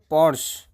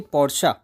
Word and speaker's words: Porsche: it moving on to luxury Porche most say Porsche but it's actually Porche that extra syel is what gives it that